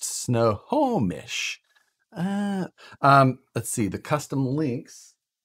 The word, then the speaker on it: Snohomish: Oh, it's pronounced Snohomish.